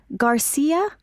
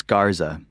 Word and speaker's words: Garza: What's your last name again? Garcia. Actually, it's Garza. How do you spell that? G A R Z A.